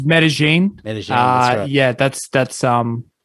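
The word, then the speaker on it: Medellín: spelt yeah so it's medellin uh yeah that's that's um that's how the locals say it um that's so hence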